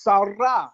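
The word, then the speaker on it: שרה: That term to strive is Sarah, Sarah, no SH, just Sarah.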